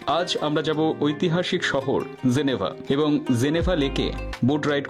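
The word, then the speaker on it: Genève: depressing বলে মনে হয় জেনেভাল একে বোর্ড রাইটিং করতে এসে জানতে পারলাম স্থানীয় লোকেরা একে বলে জেনেভ জেনেভ প্রথমে তো ভাবলাম এ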